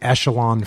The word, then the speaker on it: Echelon: Is it echelon or echelon? It's actually echelon.